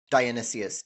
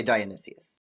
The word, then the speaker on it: Dionysius: What is the character of the tyrant Dionysius, Dionysius, however you want to say it. I'll say Dionysius.